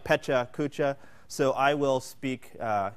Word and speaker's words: Pecha Kucha: Petra Kucha or Pachuca I say petrikucha that is the bastardized Americanized version of it it's really Pacha uh but it's phonetically it's two separate words it looks like pecha Kucha so I will speak